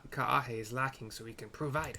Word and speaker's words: Kaahe: all the other times if you see like a a you got to pronounce both A's so this is kah